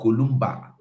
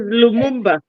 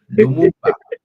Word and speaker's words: Lumumba: Lumumba or Kolumba, the fight, not just eloquent speaker finish. Is Lumumba. Lumumba, so no be say they short them now because I know sabi pronouncing them.